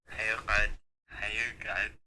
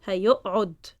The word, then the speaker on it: هيقعد: But when we speak, we even merge both and we say هيقعد. Because with a afterwards it's a bit hard, so we just merge them both and say هيقعد or هيقعد. We just like with a shadda, as if it's a ain with a shadda.